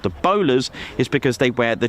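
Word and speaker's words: BOLARS: They have spelt it differently, and I believe it's to do with the amount of letters in the call sign, but it's spelt B-O-L-A-R-S, but it is the bowler hat, which I have one.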